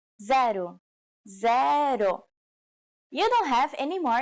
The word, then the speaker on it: zero: um do you know it's the same as in English but with a different pronunciation zaru zero you don't have any